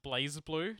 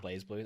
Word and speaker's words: BlazBlue: think it's actually pronounced blaze blue they just don't have the e in there i always thought it was blaze blue that's what i call